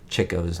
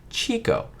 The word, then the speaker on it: Chico: lot of them so just like you would say chicks it was meant to say chick oh so there we